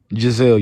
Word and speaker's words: Jazelle: Jazelle, how you supposed to pronounce that? Jazelle, you said it right.